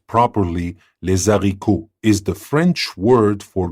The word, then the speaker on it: les haricots: Clifton Chenier, the late king of Zydeco, coined the term Zydeco, les haricots, which is pronounced properly les haricots, is the French word for green beans.